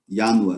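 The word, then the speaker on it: ianua: Por exemplo, Yanua, né? Alguns vão escrever Yanua, por exemplo. Mas o som J não existe.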